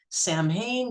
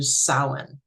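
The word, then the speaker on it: Samhain: Um, it looks like it should be Sam Hayne, but it's actually pronounced closer to sin.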